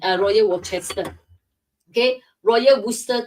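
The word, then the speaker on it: Worcester: Okay, so in UK I cannot pronounce royal wchester all the alphabets. Okay, it's called Royal Worster in UK.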